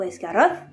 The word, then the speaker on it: Esgaroth: dans Beor ou Roak, rouler le R, comme dans Narvi ou Esgaroth, prononcer le U en